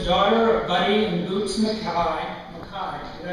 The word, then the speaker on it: Mackay: Andi is the daughter of Buddy and Boots Mackay.